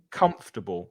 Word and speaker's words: comfortable: jose antonio comfortable yeah many spanish speakers mispronounce that word um they put an extra syllable in it yeah it's nice it's only three so i can't do this i can't do this on camera so it's this first syllable that's stressed this one is stressed these two not three syllables comfortable say it with me comfortable comfortable comfortable it's a comfortable chair